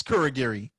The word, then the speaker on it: Kurogiri: it out i still won't be able to pronounce it someone called wolfgate yeah okay so it's kurogiri k-u-r-o-g-i-r very good but he's just like a